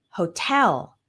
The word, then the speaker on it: hotel: We have words like guitar, hotel, balloon. Those are all two-syllable nouns with the stress on the second syllable.